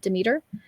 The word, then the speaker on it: Demeter: The story, it's a pretty common Greek myth with Persephone and Demeter, or Demeter. There, people pronounce her name differently.